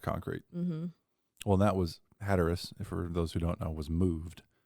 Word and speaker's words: Hatteras: What was the I'm thinking of Hatteras, right? That's how it's pronounced.